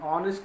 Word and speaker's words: honest: Even though our honest, honorable begin with a consonant H, but the sound is of a vowel O, where is H is silent here. Honest we use O, honorable also we pronounce O.